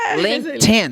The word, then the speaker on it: LinkedIn: Aí vem a rede social, né? Linkedin. LinkedIn. Linken. Linken. Porque você vai juntar.